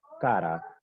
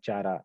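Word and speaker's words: Chara: क्लैमिडोमोनास कॉक्सीफेरा, सरगैसम इट इज the brown अलगा, Volvox it इज the green अलगा, Fucus, कारा, these are the important examples of ओगैमी। इसे बहुत सारे बच्चे चारा प्रोनाउंस करते हैं।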